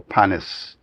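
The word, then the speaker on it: panist: And he coined that word in 1974, panis. And it's spelled P-A-N-I-S, not P-A-N-N-I-S-T.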